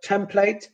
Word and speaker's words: template: So the word template, mandate are pronounced with a.